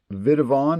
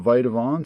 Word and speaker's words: Vitavon: the uh subscribers to my channel that it's pronounced vidon not vitavon so whoever that was who uh corrected me